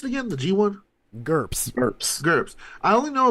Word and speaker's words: GURPS: Well, the one thing that I didn't know about is what how do you pronounce it again? The G1? GURPS.